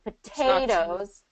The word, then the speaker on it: potatoes: So potatoes, yeah, so it gets second syllable stress, potatoes. So because of that stress being on the second syllable, that first syllable vowel gets reduced.